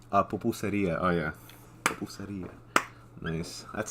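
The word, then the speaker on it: pupusería: Pupuseria. Pupuseria.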